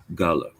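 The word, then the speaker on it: Gullah: The Gulla people calls themselves Gulla. I mispronounced I know I'm correct.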